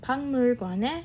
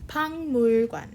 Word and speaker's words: 박물관: And then 선생님은 학생들이랑 선생님은 학생들이랑 박물관에 갔어요.